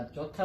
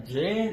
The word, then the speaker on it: j: नजर आपको आ रहा है जे, लेकिन ये आपने जे नहीं पढ़ना, साउंड है इसकी चे की, लेकिन चाइनीज प्रोनाउंसिएशन में इसको पढ़ेंगे ची, जरा फ्लैट करके ची, ठीक है? आपने जरा फ्लैट करना है, ठीक है? लफ्ज क्या है आपका ची, जे नहीं पढ़ना, ची।